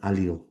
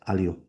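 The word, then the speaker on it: allele: Different versions of that same gene we call an alil. We're going to call it ali. That's fine. But it's pronounced alo.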